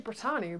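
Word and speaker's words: Brittany: my name is Brit my full name is actually britani but nobody says it right they call me Britany so we sh them to Brit britani yeah I know it's very it's spelled exactly the same as Britany I I know yeah I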